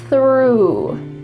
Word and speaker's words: through: We have a th followed by an r. Let's practice it slowly. Your tongue is coming out between your teeth. F. And there's some air. That's a wonderful th sound.